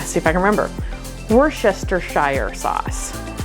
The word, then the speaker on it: Worcestershire: and they started laughing when she said Worcestershire sauce they're like what like isn't it just Worcestershire sauce us three syllables versus five I don't know I